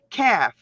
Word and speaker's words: calf: Edge has all its letters pronounced. Lion has all calf.